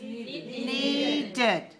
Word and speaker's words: needed: All right, need, the past tense is needed. Needed. Right, so N-E-E-D-E-D, we need to add an extra syllable. So need, 1 syllable, needed, 2 syllables.